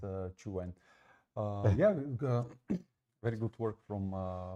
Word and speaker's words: Qwen: intrigued by these models, and I said Qwen, and the guys just said what? They didn't understand what I was talking about, so they ended up explaining how this is being pronounced in Chinese, actually.